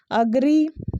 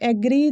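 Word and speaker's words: agree: The third one इज अग्री, बट हम इसे हमेशा कह लेते हैं एग्री, जो कि ये गलत है, आज से अग्री कहना है, ठीक है।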